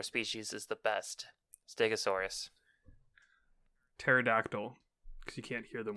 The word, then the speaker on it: Pterodactyl: Pterodactyl, because you can't hear them when they pee? Urinate. Yeah. All right. Because the P is silent, Xiaber.